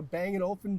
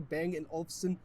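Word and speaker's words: Bang & Olufsen: because we have a banging open sound system I pronounced that wrong bang and Olsen sound system a really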